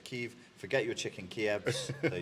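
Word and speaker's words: Kyiv: uh you you filthy the ukrainian pronunciation is keef forget your chicken kievs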